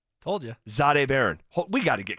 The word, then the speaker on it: Jahdae: And when it comes to Jahdae Barron, the pronunciation guide has his first name being said like this: Z-H-A-Day. Zade. Told you. Jahdae Barron.